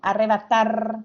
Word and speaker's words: arrebatar: Arrebatar, escuchen bien, arrebatar, ¿dónde se carga la voz? La A. Aguda. En la Aguda. última sílaba, ¿verdad? En la última sílaba, porque dice arrebatar. Ar es la que suena más fuerte.